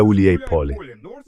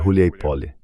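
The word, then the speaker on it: Huliaipole: A principal fortaleza é Uliáipole, que aliás é a junção de duas palavras, Uliai e Pole. Todo mundo continua pronunciando errado. Por algum motivo, Huleipoly, que se traduz como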